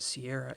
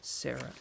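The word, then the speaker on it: Serra: I do not know for the longest time as a kid I pronounced it Sierra Angel but it's Sara angel there's no I in there alright I got three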